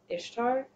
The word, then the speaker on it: Ishtar: known by the Akkadians and the Assyrians as Ishtar. And then the Hittite Saska, she becomes their goddess of fertility, war, and healing. Yeah, I do know. That name Ishtar Yeah.